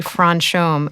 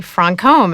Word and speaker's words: Franchomme: A lot of people say Franom, including most chists, but it's actually Francome, and you got it right.